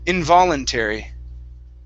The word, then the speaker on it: involuntary: the word involuntary so our stress is right on that vo involuntary involuntary very good very